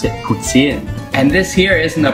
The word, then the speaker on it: poutine: If you really want to sound like a pro, don't pronounce it poutine, pronounce it poutine.